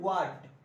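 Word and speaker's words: what: हाँ वाट, हा नहीं, व्हाट नहीं बोला जाता है, क्लियर। एक्चुअली इसमें एच साइलेंट रहता है, तो वाट, और यहां पर हेल्पिंग वर्ब के रूप में आपको सैल का यूज करना है।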